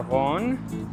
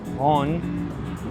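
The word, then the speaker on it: Rhône: right alongside the the river Horn. That's how you pronounce it. Hon with the cir flex accent.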